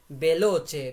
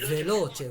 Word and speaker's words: veloce: যেমন আমরা বলি, অনেকে বলে বেলোচে, বেলোচে, বেলোচে বলে, নো, এটা হচ্ছে ভেলোচে, ভু ভু, ভেলোচে।